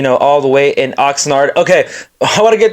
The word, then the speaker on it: Oxnard: Tok one of them Oxford not Oxnard I will get I completely butchered it so my bad and know Cowboys fans were roasting me on the comments it's Oxnard not Oxford my fault my fault